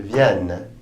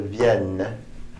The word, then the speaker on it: viennent: Je viens, tu viens, il vient, nous venons, vous venez, ils viennent, elles viennent. Notice the ENT are not pronounced. They never are in the third person plural.